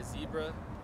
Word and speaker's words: Xebra: I go by Zebra, spelled with an X.